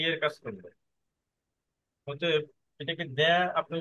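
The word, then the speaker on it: Д: অনেকটা মিল আছে, কিন্তু একটু কাইন্ডলি একটু ফলো করেন, মনোযোগ দিয়ে দেখেন। হ্যাঁ, ঠিক আছে। আচ্ছা, তার মানে এটার উচ্চারণ আমরা একটা সুপার পাইলাম বা চেয়ার পাইলাম, যেটার উচ্চারণ হচ্ছে রাশিয়ান ভাষায় দ্য।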